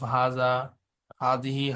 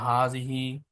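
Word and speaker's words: هذه: ইজ the feminine of হাজা হাদিহি হাজার feminine it is pronounced হাজিহি এটা উচ্চারণ হয় হা টান দিয়ে হাজিহি বাট দ্য আলিফ ইজ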